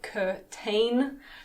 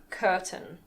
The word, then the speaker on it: curtain: I know it looks like curtain, but we pronounce it curtain.